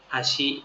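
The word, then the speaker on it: あし: เอา ใหม่ นะ ลบ อะ ชิ อะชิ อะ อาชิ เท้า อชิ อาชิ เท้า นะ ครับ ใกล้ เคียง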